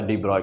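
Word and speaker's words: de Broglie: हाँ, तो main basic formula डी ब्रोगली wavelength का मेन बेसिक फार्मूला क्या है? डी ब्रोगली कहिए प्रोनाउंसिएशन या चाहे डी ब्रॉय कहिए, तो जनरली हम लोग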